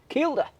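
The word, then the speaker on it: Kielder: How do you pronounce it, Ian? The Keilder Marathon. Keilder.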